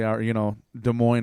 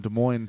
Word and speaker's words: Des Moines: I think there's definitely a bunch of sociopaths in Des Moines, too, because I think that sociopaths are disproportionately attracted to the profession, dare I call it, of politics.